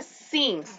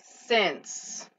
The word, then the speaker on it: since: Desde, since, es como una mezcla entre la I y la E. No se dice since directamente con I, se dice since.